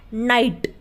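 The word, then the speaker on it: night: है साइलेंट है उसी तरीके से नाइट अब नाइट में भी ग बीच में ए रहा है इसलिए यहां पर ग क्या है साइलेंट है यानी की वो बोला नहीं जा रहा हम क्या बोलते हैं नाइट उसी तरीके से एफ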